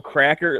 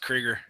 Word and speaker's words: Krieger: Although, I don't know, Cracker, like maybe it's like, Cracker. It's going to break. It's called Krieger. It's pronounced Krieger.